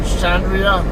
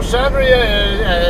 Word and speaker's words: Xandria: see one particular group called shandria it's um now shandria it's spelled x a n d r i a they are u a